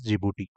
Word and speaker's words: Djibouti: Okay, this is pronounced as Djibouti.